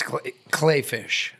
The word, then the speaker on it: Kleefisch: It's spelled Kleefisch. It's Kleefisch.